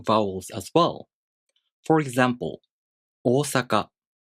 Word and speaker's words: Ōsaka: For example, “oosaka”, this word also takes 4 beats to pronounce.